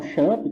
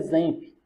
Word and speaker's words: XAMPP: A maioria das pessoas falam XAMPP, tá? Ou XAMPP, mas na verdade a pronúncia correta é XAMPP.